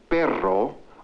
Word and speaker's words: perro: The differences in the Spanish sound ere as in pero and the R as in perro are important because they result in a change of meaning.